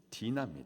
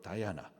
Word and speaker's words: 디나: 딸이 있죠 딸 아이가 이름이 디나 디나 영어식 발음으로 다아나 디나 디나이 디나가 보니까는